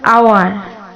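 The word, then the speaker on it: hour: এয়ার অর্থাৎ উত্তরাধিকারী একজন উত্তরাধিকারী অ্যান এয়ার আবার আওয়ার আওয়ার মানে কি ঘন্টা তাহলে এক ঘন্টা অ্যান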